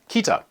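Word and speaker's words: 北: For example, you can learn that this character, meaning south, is pronounced minami, and this character, meaning north, is pronounced kita.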